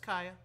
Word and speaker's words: Kaya: better get going okay that's how you pronounce his name it's just Kaya oh that's it see